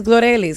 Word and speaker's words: Glorelys: Yeah, I mean, everyone calls me Glory. It's Glorelys. It's just hard to say.